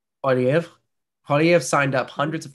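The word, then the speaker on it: Poilievre: Poiliev. Polyev.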